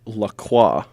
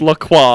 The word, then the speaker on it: La Croix: Well, I actually find myself to be a somewhat avid drinker of La Croix, because it's French. Take it back. Take it. It's pronounced La Croix. It's all right, It's French for the cross.